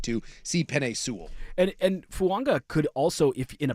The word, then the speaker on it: Fuaga: And by the way, I know it is spelled Fuaga. There's a silent N, just like Tua Tango Vailoa. It is Fuanga. Oh, really? I would say Fuaga. It's not Fuaga. Oh. It's Fuanga. It's Fuanga. Fuanga. Like 100%.